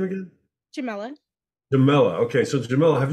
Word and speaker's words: Jamila: Okay, Jamila. Good morning. Good morning. How do you say your first name again? Jamila.